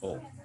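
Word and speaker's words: を: Hanya ini dibacanya nanti O, bukan wo ya. Dibacanya O.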